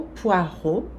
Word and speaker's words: poireau: Une quiche au poireau. O X aqui não se pronuncia. O A mais o U, o som O. E a vogal E, A, U, som O também.